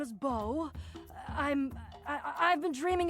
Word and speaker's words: Beau: Oh, we've been mispronouncing you the whole time. My name is Bo.